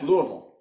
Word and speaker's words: Louisville: from Bowling Green to Louisville um it's Louisville bigger than or smaller than Lexington Louisville oh actually actually they are the biggest yeah you don't pronounce the S at all right yeah it's Louisville so I always say